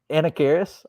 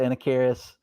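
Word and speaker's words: Anacharis: it wrong forever how did you say it anna karis i don't know if that's right that's because it's a-n-a-c-h-a-r-i-s i believe i'm just saying i'm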